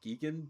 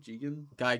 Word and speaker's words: Gigan: Geegan? Gigan. Egan? Geigen.